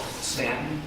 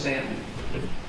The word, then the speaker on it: Staunton: So, in a city called Stanton, it's spelled with the U, Staunton. It looks like Staunton. They like it pronounced Stanton.